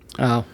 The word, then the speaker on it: Shoggoth: I'm thinking like it's spelled Schoggoth. It's just Shogoth.